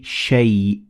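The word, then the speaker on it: شيء: Now, as you can see, the alif in shay, it is written, but it is not pronounced. So we say shay.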